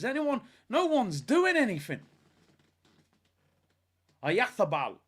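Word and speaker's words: Oyarzabal: Ayathabal. Because apparently everyone said I said his name wrong. I said Ayazabal, I think. Ayathabal. Ayathabal, is it?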